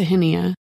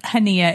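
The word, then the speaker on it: Chania: early and flew into henia and just for reference hania is spelled c h n i a in English so we flew in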